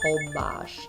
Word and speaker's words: Holbox: we went to hobash spelled whole box pronounced hold bosh you fly into cancun